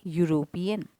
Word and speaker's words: European: here he is a european now here you see in this sentence though it is beginning with e yet the sound is that of a consonant so hence we are